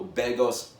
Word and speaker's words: Begos: release of almost human a Jo bed ghost film that's how you say his name correctly Davenport of course the